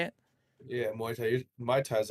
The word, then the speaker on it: Muay Thai: Yeah, Muay Thai.